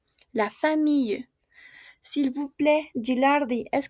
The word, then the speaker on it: famille: La famille. Y como tenemos una e que no tiene tilde, on ne prononce pas, ¿d'accord? No se pronuncia. La famille.